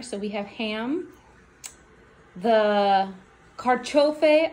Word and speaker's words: carciofi: So we have ham, the carciofi oreganata. Go ahead, say it. Did she say it right? No? So say it. Carciofi. Oreganata. Oreganata, yeah. My pronunciation isn't that different.